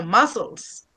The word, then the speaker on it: muscles: You don't say Must muscles, no muscles. matter.